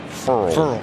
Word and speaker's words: Ferrell: A fired up Cleland Ferrell led the Clemson front, and he did tell us early in the year it's pronounced Furl, like referral.